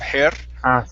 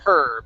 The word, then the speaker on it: her: on her butt okay watch your tongue on the word her instead of hair her push the tongue down to float on her